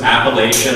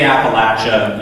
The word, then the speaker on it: Appalachia: of the region and i was pronouncing it wrong and i totally bought into um the claim that if you say appalachia you're siding with the outsiders because that's what they say especially if you're farther south